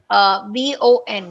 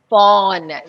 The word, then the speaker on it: von: And then whenever I see VON, how will you pronounce it, Sai? Von. No, No, phone. Fawn. Yeah, genau. Fawn, der Stadt.